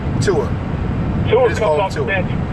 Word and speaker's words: Tua: How do you pronounce his name? Tua.